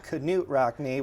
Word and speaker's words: Knute Rockne: We currently have our biggest exhibit right now, Knute Rockne, Life and Legacy, or I should say Knute Rockne, which is the right way to pronounce it.